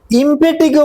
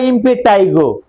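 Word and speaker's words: impetigo: ইমপেটিগো বা ইমপেটাইগো মূলত medical টার্মে ইমপেটিগোই উচ্চারণ হবে।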